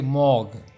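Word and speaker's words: morgue: देखिए उसका प्रोनाउंस है मॉग.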